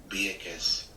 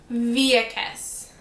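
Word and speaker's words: Vieques: Viekes. Viekes, says Google. Viekes.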